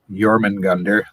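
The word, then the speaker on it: Jörmungandr: because i know that you don't pronounce the j like a j you know right so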